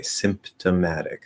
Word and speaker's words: symptomatic: of my head uh the p doesn't actually have to be pronounced um if you are speaking more slowly more clearly or maybe you're emphasizing the word um then it's more likely that we would push out that p because that would be the fully enunciated way symptomatic symptoms so there's